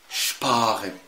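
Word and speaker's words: Sparen: الاس بي والاس تي اذا جم في اول الكلمه، حضرتك تنطق الاس شين تقيله مكسره الدنيا. ازاي؟ شب شب.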